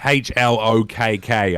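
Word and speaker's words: Hlökk: It's got a H at the beginning. It's almost like HLOKK, I think.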